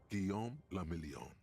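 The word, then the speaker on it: Guillaume Le Million: meant only one thing guillaume lamillion if it doesn't rhyme you're not pronouncing it right he sang some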